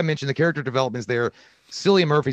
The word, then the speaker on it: Cillian: the character developments there cilia murphy someone said it's it's a it's a pronunciation with a k i don't know what you mean murphy i've always called him silly but i guess it's